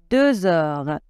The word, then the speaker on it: deux heures: il est deux heures on doit faire la liaison et le X se prononce deux heures une heure il est